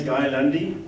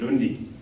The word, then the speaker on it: Guy Lundy: As you heard, my name is Guy Lundy, and it's always nice to be introduced with the correct pronunciation of my name, because of course the vast majority of people in South Africa pronounce it Lundy.